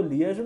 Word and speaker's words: liaison: तो लिएजन ऑफिसर रखो उसको, लिएजॉन इज the actual pronunciation basically.